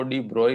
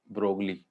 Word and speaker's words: de Broglie: ने में friend scientist ऐसे तो बोलते हैं इसको डिब्रॉय है बीआरओ बाय लिखते इसको ब्रोकली चीज चलाइए ताकि देख